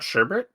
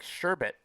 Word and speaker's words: sherbet: wait is it not sherbert well it's not spelt sherbert it's like it's like sherbet i don't even know